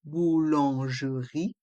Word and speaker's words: boulangerie: en dans le mot boulangerie. Le T de devant est muet. La boulangerie. On a le son OU avec les voyelles O et U. Boulangerie. Le E de boulangerie est muet.